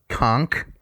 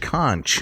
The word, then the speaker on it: conch: you know isn't it isn't it pronounced conch con you keep saying conch is isn't that it's that conch conch it's conch it's conch that sounds weird to me people don't eat conch